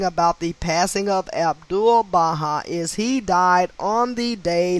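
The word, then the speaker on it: Baháʼí: in case i'm butchering the word the faith is spelled b-a-h-a-i baha'i it was established 1863.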